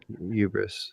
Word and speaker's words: hubris: pronouncing it correctly um hubris it's hubris hubris like uh like we don't call uh we don't say Pew you know who Hefner it's Hugh Hefner and this is hubris it's the same thing